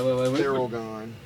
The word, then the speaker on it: Theralgon: Think of feral gone.